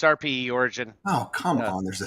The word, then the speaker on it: RPE Origin: So I'm like, There actually is a space, but it's RPE Origin.